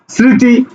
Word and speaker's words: স্মৃতি: তো উচ্চারণটা কি এরকম হচ্ছে এরকম হচ্ছে না স্মৃতি স্মৃতি দেখো তো ম ফলার উচ্চারণ হইছে হয়নি সুতরাং এই জায়গাতে আমরা তার